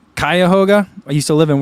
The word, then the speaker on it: Cuyahoga: suits you well uh Martha says Co it's pronounced Cuyahoga I used to live and work in Cleveland for the orchestra oh okay Kai Kaya hoga okay when she says Cuyahoga is from Family